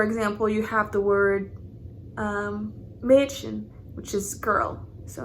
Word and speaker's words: Mädchen: So for example, you have the word Mädchen, which is girl. So instead of pronouncing it like an A, like in Apfel, which is apple, you'd say Mädchen.